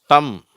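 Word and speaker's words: thumb: Dwayne to சரி அடுத்தது எம் பி இந்த இரண்டு எழுத்துக்கள் சேரும் பொழுது இந்த பி சைலெண்ட் ஆயிடுது சரியா இதை வந்து எப்படி படிக்கணும் ம்னு படிக்கக்கூடாது ம் அப்படின்னு படிக்கணும் ம் அவ்வளவுதான் ம் பியும் சேர்ந்து வந்தா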